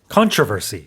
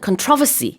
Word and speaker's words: controversy: 영국에서는 controversy. Controversy. 네, 그래서 강세가 다릅니다. 근데 같은 단어고요. 논란. 미국과 캐나다에서는 어떻게 한다고요? Controversy. Controversy. Yes. 이렇게 앞에 강세가 있고 영국에서는 controversy. 두 번째 음절에 강세가 있어요.